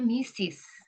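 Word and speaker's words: Mrs: di undangan tertulisnya ini Ini bacanya Mister and mesis itu kayak gitu ya ada esnya bacanya misis kalau di sekolahan malah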